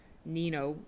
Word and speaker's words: Nino: is Mexican American, and he knows definitely that Nino was pronounced Nino It means boy. But he pronounces it Nino. So that's how I'm going to pronounce it. I'll respect his ways instead of saying Nino.